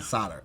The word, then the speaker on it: solder: spell that really i i would have never guessed an l was in there i didn't know they really did silence like oh okay yeah this